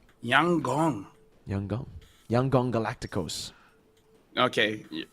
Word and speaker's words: Yangon: By the way, Lfell, apparently YG is pronounced Yang Gong. Yang Gong.